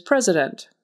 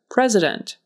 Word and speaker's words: president: first word today is president president and there is an s in the middle that sounds like a z president developed developed so that